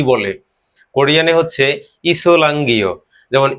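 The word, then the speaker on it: 이슬람교: কোরিয়ানে হচ্ছে ইসলাঙ্গীয়।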